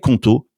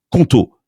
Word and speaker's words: Qonto: Les équipes de Conto sont disponibles 7 jours sur 7 et tu